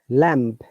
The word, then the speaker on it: lamb: see that welcome so if there is b after m b is always silent on second num com so it should be zero m b but we should pronounce com then lamb okay similarly d u